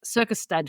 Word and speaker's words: Circusstad: so tell us a little bit about Circus Circus stad Festival am I even pronouncing that right correct me if I'm wrong